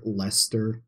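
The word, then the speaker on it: Leicester: best to say these I know like Lester that's how you say it that's my dad has grilled that into me um because there's Lester Square in England even though the English like to spell things terribly because there's a there's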